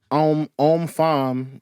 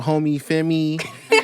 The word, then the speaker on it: Homme Femme: The proper French way to pronounce it is femme. Like that's how French people say it. But I've heard everything from homie femme to homie femme to even